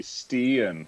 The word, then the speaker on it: stegen: But if you say stegen, it means the ladder. So, two different meanings depending on the tone of your voice. Yes, in Danish it would be stien, because we have the soft G sound.